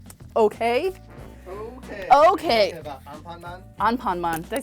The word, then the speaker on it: Anpanman: In Japan, Doraemon and Amanpan, I can never say it right, they're really